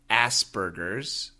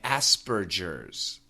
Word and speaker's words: Asperger's: In America, we say Asperger's, but in the book, they actually say Asperger's. So they pronounce the G as a J, but in America, we say G.